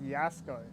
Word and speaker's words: Jasko: It's pronounced Yasko. I knew I was saying it wrong when I first saw the name. J is like E sound.